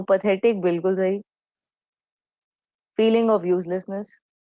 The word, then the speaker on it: path: पैथ का मतलब है इमोशन. मैं इसको पैथ क्यों प्रोनाउंस कर रही हूँ? बिकॉज पाथ, PATH, इंग्लिश में एक ऑलरेडी कंप्लीट वर्ड है.